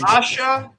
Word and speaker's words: Asia: All right, it's Asha Naborska. All right, Asia, you spell it like Asia.